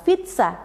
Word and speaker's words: pizza: Contoh dalam bahasa Italia adalah pizza, di mana bunyi Z adalah bunyi geminat. Ini mengindikasi bahwa Z yang diucapkan lebih lama dan kuat dibandingkan dengan Z yang biasa.